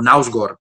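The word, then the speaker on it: Knausgård: El Mi lucha de Nausgaard, o Nausgaard, es como se debería pronunciar ese nombre, ¿no?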